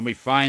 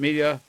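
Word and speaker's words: Bass: B-ass, not bay-ss, Dr.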